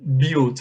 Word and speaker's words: built: Pay attention to the pronunciation of the word built, né? Você fala com som de, ó, built.